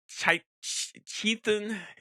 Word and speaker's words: Chthon: A guy named Chethan. I think it's spelled his name Chthon. He created the Darkhold. Originally, it was written like Chthon, I think is how. Chthon.